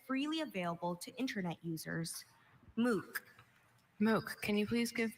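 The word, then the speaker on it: MOOC: Your word is moo. This moo is a noun and it means an online academic course of study that is freely available to internet users. Moo.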